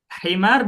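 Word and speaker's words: حمار: Himar dengan huruf ha teman-teman atau pakai kha? Ha. Nah, biharfil ha. Kalau bacanya khimar pakai kha itu artinya berubah loh. Apa artinya khimar? Yang dipakai sama ibu. Jilbab gitu. Padahal tipis ya. Pengucapannya itu tipis gitu antara ha sama kha, antara hi sama khi.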